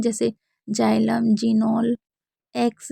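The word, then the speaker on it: xylem: जान लेते हैं जैसे जाइलम नोल एक्स रे तो इसमें आप जान सकते हैं कि सभी में शुरू में है तो हम क्या पढ़ रहे हैं जा पढ़ रहे हैं तो ध्यान से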